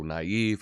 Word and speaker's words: naive: is a a mark a marking placed over a vowel to indicate that it is sounded as a separate syllable so naive or Bronte um I